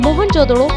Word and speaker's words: मोहनजोदड़ो: से प्राप्त हुई है मोहनजोदड़ो सिंधु घाटी सभ्यता का सबसे परिपक्व था मोहनजोदड़ो को बेहद उन्नत योजना के तहत बसाया गया था मोहनजोदड़ो शब्द का सही उच्चारण है मोहन जोदड़ो जिसका सिंधी भाषा में